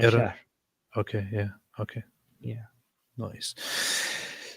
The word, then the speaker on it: Iran: Iranians oh oh yeah how do you actually pronounce this Armen Iran Iran okay yeah okay yeah nice so yeah Iran